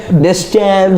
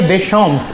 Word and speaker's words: Deschamps: The pronunciation, what we were discussing earlier. Deschamps. No. Didier Deschamps, please. Don't butcher the French language. It's a beautiful language.